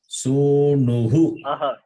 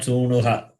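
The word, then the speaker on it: सूनुः: How do you pronounce it? Sunuhu. Not Sunuha. Okay. Sunuhu. Okay. You read Chamuhu. There Chamuhu. The first line, third word. And here Sunuhu. Visarga takes the sound of the preceding vowel.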